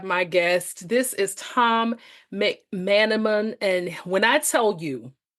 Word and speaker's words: McManimon: And so with his, I wanted to make sure that I said it correctly and you say it as it's pronounced, McManimon.